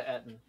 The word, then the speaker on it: Eton: No, I didn't go to Eton. Yeah, that's how that's pronounced.